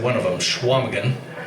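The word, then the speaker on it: Chequamegon: said one of them, Schwamagan, which looks like Shaquamagan if you spell it out, but it's pronounced Schwamagan.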